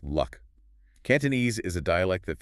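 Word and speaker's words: 六: And in Cantonese, the number 6 is pronounced luck.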